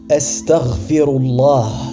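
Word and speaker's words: أستغفر الله: La bonne façon de le dire est « Astaghfirullah » qui signifie « je demande pardon à Allah ».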